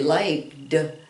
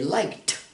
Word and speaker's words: liked: We put a D there, but we don't say liked. We say liked, liked, because K, the sound of the K is a voiceless sound.